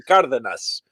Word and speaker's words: Cardenas: yeah, but I'm telling you, it's the emphasis is on the first syllable.